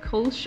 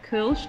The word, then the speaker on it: Kölsch: one so i've selected culch or kirch depending upon your pronunciation as the first style